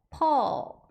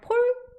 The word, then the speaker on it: Paul: 그래서 앞에 보시면 퍼 이렇게 발음하시는데 C자 거꾸로 된 발음 보이시죠? 거기에 강세가 왔고 PAU 하면 AU가 O와 어의 사이 발음이에요. 그래서 폴 아니고 펄 아니고 퍼 이렇게 발음해 주시면 되고 폴은 예전에 이상한 나라의